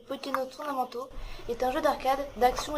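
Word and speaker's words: Pokkén Tournament: Ce jeu, prononcé en japonais Pokken Tournamento, est un jeu d'arcade, d'action et de combat japonais.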